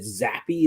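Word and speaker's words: Zappe: said that they really liked uh is it zappy is that how you pronounce his name yep yeah they really liked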